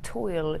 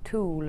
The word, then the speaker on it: tulle: I mean toil. Toil. How do you say it? It's tulle, or. How do you spell it? Tuil. Tulle, like netting.